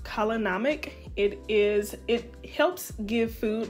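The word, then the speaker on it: kala namak: Now, if you're not familiar with black salt, I believe it's pronounced kalanamic.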